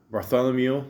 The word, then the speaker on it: Bartholomew: Bartholomew?